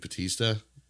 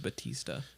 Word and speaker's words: Bautista: But I saw that Dave Bautista. Is that how you say it? Dave Bautista.